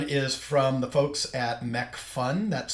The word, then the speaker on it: Macphun: And the other one is from the folks at McPhun, that's spelled MACPHUN software, and it's called Luminar.